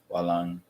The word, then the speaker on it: walang: In Tagalog, letter A, you cannot pronounce it A. It's ah. That's why you tend to pronounce it walang. It's lang. Walang. Oh, because letter A in Tagalog, it's ah.